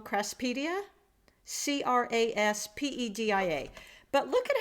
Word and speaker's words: Craspedia: I Googled it and I found out it's called a crass, and I may be pronouncing this wrong, craspedia?